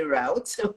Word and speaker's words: route: I say route, I think Americans say route, will be a route to getting us Mm-hmm.